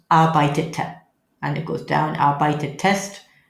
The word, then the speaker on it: arbeitete: So we had to do a bit of an addition. What do? We put in an extra E. Otherwise you'd have 2 T's coming together. So that's pronounced ich arbeitete.